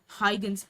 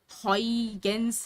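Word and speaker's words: Huygens: to pronounce this name so he was a Dutch person so in Dutch the pronunciation is um is somewhat complicated so high against is how I get it okay so again this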